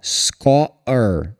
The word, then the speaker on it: score: Falei para você antes, esse é o segundo exemplo hoje, que quando a palavra termina em um e só, esse e geralmente é mágico e ele some.